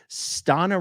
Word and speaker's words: Stana: Stana rhymes with Donna.